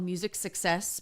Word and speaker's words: Music Sixes: It's called Music Success, but it's spelled Music Sixes.